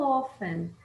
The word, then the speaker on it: often: A perguntinha é how often? Lembra que eu não pronuncio T, tá?